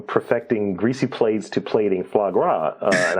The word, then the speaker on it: foie gras: greasy plates to plating foie gras and I know I mispronounced that I mispronounced that part like we just call it flaw yeah there you go